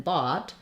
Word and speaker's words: bought: So the vowel in off and in cough and in bought, I've rewritten that here with the letters AW. You'll see this symbol in the dictionary. It's like a backwards C. This is the vowel. So it's a rounded vowel. It's different than the O. The is a little more open.